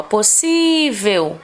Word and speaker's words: possível: A penúltima é a que recebe esse acento aí, tá? Possível. Ao lermos a palavra, colocamos maior força na sílaba si. Ou seja, acentuamos no sentido de que a destacamos, enfatizamos sonoramente esta sílaba, tá?